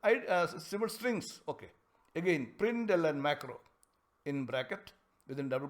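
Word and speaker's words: println!: we call it as Prindle and macro we don't pronounce it as println exclamation that's not the way it has to be pronounced like Prindle and macro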